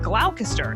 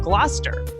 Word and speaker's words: Gloucester: Like originally I said Gloucester instead of Gloucester. Well, that's why I downloaded Audio Shakespeare Pronunciation app.